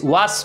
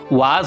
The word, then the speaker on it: was: আর কোনো ওয়ার্ডের লাস্টেও যদি এস আসে তো সেখানেও জেডের উচ্চারণ হয়, যে মতো WAS ওয়াস হয় না উচ্চারণ, WAS ওয়াজ উচ্চারণ হয়।